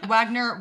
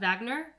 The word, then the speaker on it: Wagner: No, that's that's Wagner. Wagner Mora. Vagner. Is it Vagner?